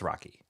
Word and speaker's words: Roque: They're always like, Mr. Rocky. I get it all. I've gotten it all my entire life. I'm like, it's Rocky. It's just Rocky.